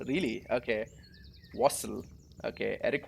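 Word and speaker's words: Wastl: it what's his last name how do you pronounce that wassel really okay wassel okay eric wassel yeah that's his last name eric he's the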